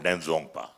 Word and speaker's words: Denzongpa: His name is Shring Primizo Denzongpa. Very, very difficult to pronounce.